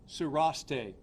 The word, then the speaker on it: Sarreshtheh: He has been identified as 32-year-old Travis Sureste, and I can spell that for you.